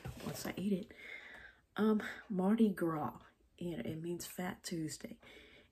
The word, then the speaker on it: Mardi Gras: have a baby once I eat it um Marty gr and it means Fat Tuesday m a r d i g r a s it's not Marty grass it's Marty Gro and um that's the thing about around here